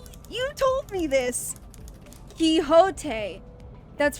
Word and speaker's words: Quixote: Quixote. That's right. Well, I'm still pronouncing her key.